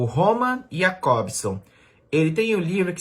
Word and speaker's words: Jakobson: O Roman Jakobson, ou Jakobson, já que ele é russo, né? Tem uma pronúncia completamente diferente.